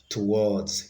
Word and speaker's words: towards: have D towards towards towards it has the stress on the second syllable actually towards has different